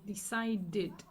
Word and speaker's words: decided: so in this case the Ed here sounds as Eid decided in this case just